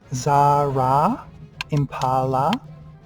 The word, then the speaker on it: Zara Impala: It's pronounced Zara Impala. I wanted it to rhyme because I get a bit upset when people mispronounce my name. And I thought if it rhymed, then people would kind of be forced to pronounce my name correctly.